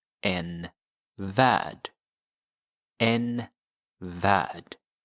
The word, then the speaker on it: värld: So notice here that värld, even though it has an L, it's silent. Värld. In English, it's world, world. But the L in Swedish is not pronounced, so you say värld, en värld.